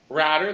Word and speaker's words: Radder: league it was uh henry radder that rhymes with ladder he was in it